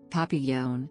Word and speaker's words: Papillon: papi yone dog the Papillon French pronunciation French for butterfly also